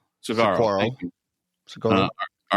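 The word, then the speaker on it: saguaro: Um do you pronounce this s a gu u a r sigoro cactus? Sigaro. Cigaro.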